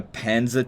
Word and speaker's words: Panzer: so basically it's anti-tank you pronounce panzer with a very dark a what what's a